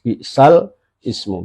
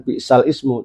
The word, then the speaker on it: بئس الاسم: Tapi cara membacanya bukan bi'sal ismu tapi bi'salismu. Ya, cara membacanya bi'salismu. Jangan sampai membacanya keliru bi'sal ismu ya, tapi bi'salismu.